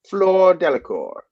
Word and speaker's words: Fleur Delacour: And the way I've always heard it sound is that Fleur Delacour.